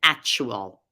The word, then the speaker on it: actual: We hear so often actual. You may not have heard the difference, but there's really a k sound, actual versus actual.